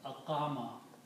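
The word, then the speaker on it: أقام: So this waw with the fatha is pronounced as alif. So this becomes aqama.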